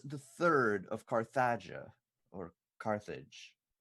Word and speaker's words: Carthage: So, I am the Third of Carthagia, or Carthage. How do you pronounce it? Carthage.